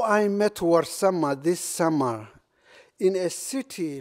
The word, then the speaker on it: Warsama: So I created the young Warsama, who is suffering in his class. Warsama is spelled as W-A-R, not war, but war, and S-A-M-E, not same.